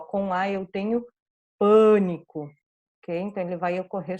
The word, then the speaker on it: pânico: É minha sílaba mais forte, é um fechado, não é A bem aberto, né? É bem nasalizado, porque na sequência eu tenho esse N, então ele é pânico.